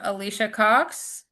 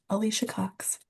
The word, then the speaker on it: Alicia Cox: say her name wrong, Alicia Cox. Absent, Oh. but she showed up after. Oh, perfect. I see. Yeah, sorry, I had some technical difficulties. Good afternoon, and you did pronounce it correctly, Alicia Cox.